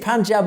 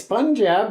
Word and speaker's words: Punjab: And to me, it's Punjab, right? I'm pronouncing the U, not an A.